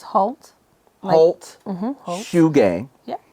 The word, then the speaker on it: Haute: Now, first of all, how do I pronounce this? It's Haute.